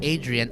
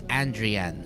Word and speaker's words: Andrian: so that's not pronounced Adrian it's andrean so it's like um it's like a mix of it's like Andre and Adrian mixed in one name so that's so that's